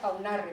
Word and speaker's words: Unarre: Vale, y lo que encontré, pues también se encuentra al inicio, en el centro, al inicio de Unarre, que allá se pronuncia Aunarre, porque se hace la diftongación.